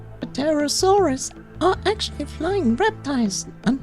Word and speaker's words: Pterosaurs: You know, I never liked that we gave dinosaurs names with PT, but we are not pronouncing the P. Pterosaurs are actually flying reptiles and not classified as dinosaurs.